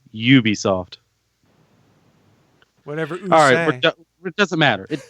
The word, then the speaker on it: Ubisoft: but no it that's you pronounce a you like a u its Ubisoft alright it doesn't matter